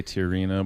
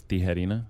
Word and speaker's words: Tijerina: I don't even think I say it right, but I say I say Tijerina, but it's Tijerina in Spanish.